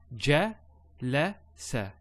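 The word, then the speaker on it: جلس: So ja, la, sa.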